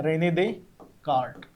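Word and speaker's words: René Descartes: आहे रेने दे का स्पेलिंग थोडस वेगळे रेने दे का्ट एस सायलेंट आहे याला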